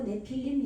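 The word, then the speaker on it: נפלים: 발음해야 되네요 예 필름 이거는 이제 네피림 해도 되고 내피림 이렇게 해도 돼요 근데 이게 지금 메모로이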